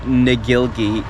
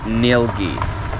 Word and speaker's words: Ngilgi: We've been pronouncing it wrong. It's not Ngilgi. We are here at Ngilgi Caves. It's pronounced Ngilgi.